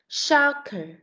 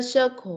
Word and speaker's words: soccer: Soccer. Soccer. No, không phải là circle mà là soccer.